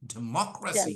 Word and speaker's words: democracy: y g y l thir from the last put pressure on it 1 two three so repeat after me democracy democracy democracy democracy demy democracy